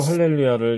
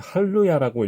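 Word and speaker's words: הללויה: 잘 가르치지 않기 때문에 실제로 할렐루야를 이렇게 첫 번 처음으로 읽게 되면은 기본적인 룰만 가지고 읽었을 때 할로야라고 읽게 되는 오류를 범하게 됩니다 그래서 여러분들이 분명하게 요런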